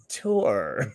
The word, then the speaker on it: Thor: Pronounced Tor.